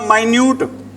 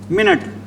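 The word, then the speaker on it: minute: भी इसको बोलते हैं दोनों की स्पेलिंग क्या है सेम है स्पेलिंग दोनों की क्या है सेम इसको बोलते हैं क्या बोलते हैं भी माइन्यूट और इसको क्या बोलते हैं मिनट यह तो मिनट वाला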